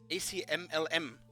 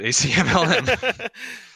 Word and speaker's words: ACMLM: one is Checkshuman versus ACMLM. Is there a way to pronounce this name? That's how you pronounce it, ACMLM. Good. Usually we just don't say the LM part, just ACM.